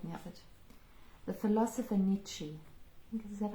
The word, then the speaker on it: Nietzsche: The philosopher Nietzsche, I think, is that how you say his name? Yeah, Nietzsche.